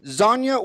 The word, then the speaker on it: Xaña: for me today to be pod cast interviewing zhonya whiners did i pronounce it right you got it correct yeah